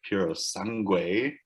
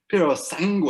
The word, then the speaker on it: Puro Sangue: So we've got the Ferrari Puro Sangue, which sounds much more elegant when you're Italian and not so much when you have half Asian descent. You pronounce that again for us? Puro Sangue.